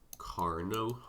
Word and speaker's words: Carnot: The Carnot cycle. Carnot? The fuck is Carnot? Butchering the pronunciation. It's Carnot. It's French.